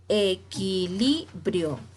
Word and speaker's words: equilibrio: denomina grave o llama ejemplo equilibrio la última sílaba spread o frío ok la penúltima es lee es la que se suena más fuerte tiene mayor entonación por lo tanto esta palabra equilibrio es una palabra grave o jana posteriormente la